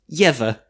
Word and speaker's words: Eva: Would you like to know how you say said name? Yes, please. Yeva.